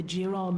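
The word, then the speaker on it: Jerall: Jural.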